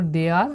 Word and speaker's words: dare: এখানে দেখো যে ডির উচ্চারণ হচ্ছে ডর মতো, আর এখানে এর উচ্চারণ হচ্ছে এ আর মতো, আর এর উচ্চারণ হচ্ছে র, আর ইর কোনো এখানে উচ্চারণ নেই, তাই আমরা এখানে শূন্য বললাম।